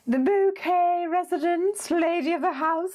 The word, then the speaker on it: Bucket: highly of herself but her surname was spelt B you see Katie and for those of you who need assistance at this late hour that spelled bucket but if she would pronounce in bouquet mmm and she would